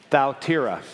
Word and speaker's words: Thyatira: greek if i get this right the correct pronunciation is faltera right would you say it with me thaltera and the only way i could remember is like south thou thou tira is apparently how you pronounce that town and